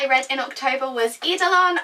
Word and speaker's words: Eidolon: So the first book that I read in October was Eidolon. I think that's how you say it. It's E-I-D-O-L-O-N. Eidolon. That's how I've been pronouncing it anyway.